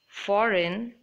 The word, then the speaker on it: foreign: both are silent here in this word foreign G is silent and make sure you